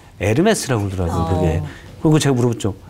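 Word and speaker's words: Hermès: 에르메스라고 그러더라고요. 그게. 그리고 제가 물어봤죠. 에르메스는 E로 시작해야 되는 거 아니야? 또 H는 묵음이라고.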